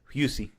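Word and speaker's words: Hussey: by the beautiful Olivia hussy husy God I'd be mad too if that was you know you know even if it is pronounced husy even if it is pronounced hussy please say husy yes H because the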